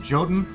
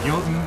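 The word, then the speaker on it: Jotun: Maybe or maybe not descended from the uh this game calls them joten. Uh but we pronounce it yoten in this house.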